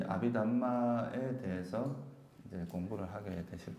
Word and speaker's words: 아비담마: 이제 아비담마라고 하기도 하는데, 다르마라는 말은 이제 산스크리트어입니다. 다르마. 이거는 이제 산스크리트어고, 담마라고 하는 거는 빨리어입니다. 그래서 지금 우리가 지금 공부하는 이거는 빨리어로 되어 있는 그 논서를 가지고 공부를 하는 거라서 제가 이제 발음은 아비담마라고 말하는 게 더 정확합니다.